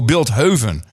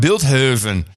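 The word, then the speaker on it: Bilthoven: of Bilt Hoven oh Bilt Hoven oh he want build Haven he that's a very Posh pronunciation it's Beethoven but that's how you pronounce it in built Heaven it's a kind of a you know uh uppity sure Hills from the Dutch city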